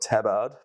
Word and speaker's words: tabard: It's spelt Tabard, but it's pronounced tabard.